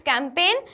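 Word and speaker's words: campaign: Then next, it's कैंपेन, कैंपेन में हमारा जी silent letter है।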